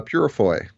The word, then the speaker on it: Peurifoy: do it right yeah and how do you pronounce your last name uh purfoy I used to tell my classes uh my